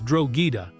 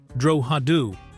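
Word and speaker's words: Drogheda: The American cast consistently mispronounced the name of the central sheep station, Drogida, as Drogida, instead of using the correct Irish pronunciation, Droadu, creating a linguistic error that persisted through every episode of the miniseries.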